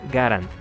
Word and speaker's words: Garand: civil norteamericano por cierto su apellido de origen francés se pronuncia garan mucha gente alrededor del mundo se refiere al icónico fusil como m1 garan lo cual es incorrecto otro dato que me